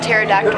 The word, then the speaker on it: pterodactyl: can't you hear a pterodactyl over NASA research says the P is silent I knew it Norma